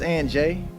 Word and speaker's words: Ant J: Is it Aunt J or Aunt J Music? So it's just Aunt J.